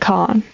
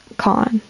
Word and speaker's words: Kahan: A, like Kahan, like Khan, something like that. So it's like barely the H. It's like Khan or something like that. Khan. It sounds more like Khan than Kahan.